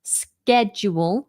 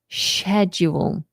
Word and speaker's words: schedule: Now, I always think of the word shed when I'm trying to remember how to pronounce schedule in British English. Not that it really matters, but there is a small difference technically between American schedule with a k, schedule, and the British schedule, a softer sound.